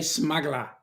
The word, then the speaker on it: smuggler: It's the way you say smuggler. Don't pronounce the last R.